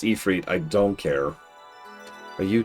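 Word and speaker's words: Ifrit: Master Ifit. Yes, I know it's pronounced Ephre.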